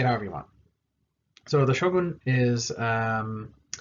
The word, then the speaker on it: shogun: him shogun so uh you may hear americans say gun like show gun uh for japanese that's really weird they don't it doesn't sound right they don't have that sound the earn so shogun but anyway you can